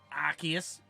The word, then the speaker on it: Arceus: that that was fun I think that one you're supposed to pronounce it Arceus don't care sorry but